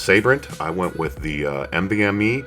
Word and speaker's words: Sabrent: Now for my storage, I believe it's pronounced Sabrent.